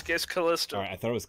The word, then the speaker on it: Kalista: Well, I keep mispronouncing all the characters' names, but no, I thought this. Okay, so it's Kalista. Alright, I thought it was Kalista, but okay, so.